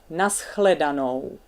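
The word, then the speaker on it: na shledanou: Altogether it sounds like nashledanou. But a good way how to learn it is first pronounce just some sounds of it. A, E, A, O.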